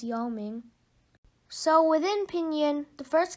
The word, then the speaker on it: Yao Ming: not know the pronunciation then if you look at the pinyin and the tone marks you can figure out that the pronunciation is Yao Ming so within pinyin the